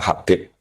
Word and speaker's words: Habib: Itu di harokatnya kitab itu ada yang nulis Hubab. Tapi yang benar yang benar itu bacanya Habib.